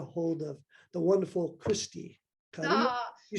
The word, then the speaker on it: Carrillo: So I say Carrillo, but I'm sure it's Carrillo. Okay. I pronounce it the Caucasian way.